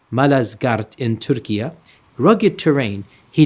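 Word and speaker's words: Malazgirt: the town of Manzakart and today it is pronounced Malazgart in Turkey.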